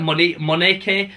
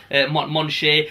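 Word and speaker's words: Michonne: It's weird because obviously you're reading a comic, so you can only say it how you say it, and I always felt like Moneke or something. But then when we looked at online, it's like Monche.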